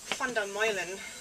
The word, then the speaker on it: Van der Meulen: It's Dutch, so it's actually Van der Meulen.